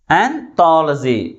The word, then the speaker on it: anthology: Anthology. But which syllable is pronounced with a greater force? Third syllable from the last is pronounced with a greater force comparing with other syllables.